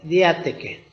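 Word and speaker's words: διαθήκη: Que en la palabra de Dios, testamento en el griego se pronuncia diáteke, y que en hebreo significa berit, y por otro lado también testamento y pacto se traducen iguales.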